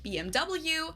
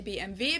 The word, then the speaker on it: BMW: In English, people say BMW. In German we say BMW because W is pronounced V in German and it stands for Bayerische Motoren Werke, which means Bavarian Engine Works.